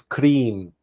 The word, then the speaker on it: Krim: mantra Krim, which is we have to roll the R. I can't roll my R, so I can't do it the way it's supposed to be done, but it's Kri, it's Kri. You roll your R and it's Krim.